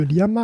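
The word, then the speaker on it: LLaMA: avait déjà parlé de liama alors là c'est en fait c'est Lama avec de en fait ça se prononce i c'est pour ça c'est malin c'est liama liama bon donc liama effectivement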